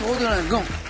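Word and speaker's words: Rodelinghem: Voici Corinne de Rodelingan, car on prononce Rodelingan, dans le Pas-de-Calais.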